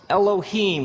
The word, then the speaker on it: Elohim: it would look something like this and it's pronounced Elohim let me hear you say Elohim in the beginning Elohim created the heavens and